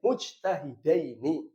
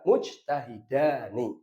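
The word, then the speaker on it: مجتهدين: Bacanya berarti mujtahidaini, bukan mujtahidani, tapi mujtahidaini.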